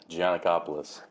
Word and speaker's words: Giannakopoulos: How do you pronounce that last name? Gianicopoulos. Gianicopoulos.